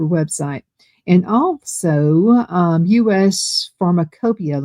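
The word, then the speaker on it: Pharmacopeia: And also um US Pharmacopia. Let me spell that for you. US and then P H A R M A C O P E I A. It's spelled a little differently than it sounds.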